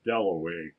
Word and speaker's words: Dalloway: wickham at last he said my name is delaway that was his first view of a